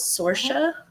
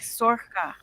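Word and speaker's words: Sorcha: I thought her name was Sorsha, and the audiobook says her name different. How's it pronounced? Sorhaya or something like that? Sora. She says it like Sorka. Sorka?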